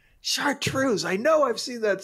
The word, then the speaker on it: chartreuse: our next word is chartreuse or you could make that s sound as z chartreuse uh i shall say chartreuse this one is spelled